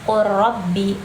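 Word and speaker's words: قُلْ رَبِّ: Jadi bukan bacanya qul rabbi tapi qul rabbi. Qurabbi. Jadinya si lam ini sepertinya seperti melebur dengan si ro tersebut.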